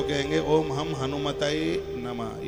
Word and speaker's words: हनुमते: बहुत लोग हनुमान जी का मंत्र जपेंगे तो कहेंगे ओम हम हनुमताय नमः, ये बिल्कुल गलत है। इसलिए तो व्याकरण की जानकारी होना जरूरी है। ओम हम हनुमताय नमः नहीं, ओम हम हनुमते नमः।